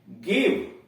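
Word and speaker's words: give: इसमें देख रहे हैं कि इनके बाद यानी जी के बाद ई भी आ रहा है, आई भी आ रहा है, फिर भी उच्चारण इसका गो हो रहा है।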